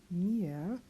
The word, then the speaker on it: mir: And again, we don't pronounce the R at the end of that word, but it's still in the sound. So mir, rau, ow, yes.